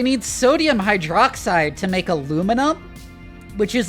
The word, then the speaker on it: aluminum: The correct pronunciation that was given by the like discoverer of the element and not the fake British pronunciation. That is because the editor of a science journal just arbitrarily decided that aluminium sounds better. The American pronunciation is the original one.